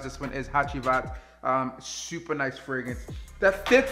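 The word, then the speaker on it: Hacivat: That's what I was supposed to pronounce this one is, Hachivat.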